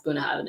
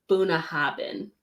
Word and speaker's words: Bunnahabhain: with me is that I didn't learn how to pronounce Puna oven until like last year I was saying buna haben yeah saying it with a be rather than me because Gaelic is soaking yeah well no cuz cuz so Gaelic a is applause is a broad vowel so you pronounce BHS if it was next to an IU would pronounce it like a w so much of my